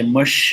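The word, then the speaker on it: Mushtaq: So Mush, maybe you can start by just explaining your story.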